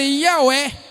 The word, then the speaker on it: Yahweh: Mas era mais ou menos aquele Yahweh.